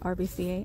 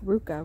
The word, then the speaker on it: RVCA: wrong which is cool I've been calling it rbca I knew it was something else um $10 it's like Ruka right something like that thank